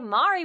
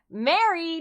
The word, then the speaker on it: Mari: guest with us today Mari would you like to say hello to everyone uh hello hi Mary no it's Amari hi it's me Mari telling you how to say